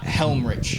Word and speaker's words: Helmrich: Helmrich. Helm. Helm. Surprisingly said how it's spelled.